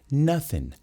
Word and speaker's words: nothing: Olha aqui, mais uma palavrinha que acaba com G e a gente não pronuncia. Nothing. Nothing. A boca quer ir pro G, mas você não deixa. Nothing. Inclusive, eu tenho alguns amigos britânicos que não colocam o G, mas colocam C.